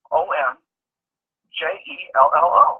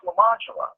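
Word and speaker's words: Lemonjello: You spell it Lemon. Jello. Lemon Jello? That's lemon jello. No, it's French. It's pronounced Lamangelo.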